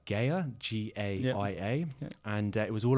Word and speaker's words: Gaia: - I think it's actually funny you say about purpose, because I've just watched, yesterday in fact, on, I want to pronounce it right, Gaia, G-A-I-A, and it was all around finding your purpose and it gave you the whole hero story circle.